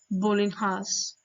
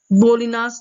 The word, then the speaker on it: bolinhas: and here the govern bolinhas bolinas is the other pronunciation for the bread now page number 87